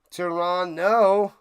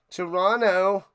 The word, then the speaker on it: Toronto: Don't pronounce the second T in Toronto. Toronto. Toronto.